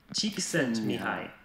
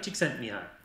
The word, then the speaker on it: Csikszentmihalyi: Et un petit rappel pour savoir comment se prononce déjà... Mihai, Csikszentmihalyi. A little bit faster this time. Mihai, Csikszentmihalyi.